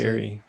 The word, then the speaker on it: sedentary: meaning I need to be more active, because I live such a, is it sedentary lifestyle? Is that how you say it? Sedentary. Who? Said in Terry. Sedentary.